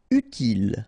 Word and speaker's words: utile: Utile, final E not pronounced, utile.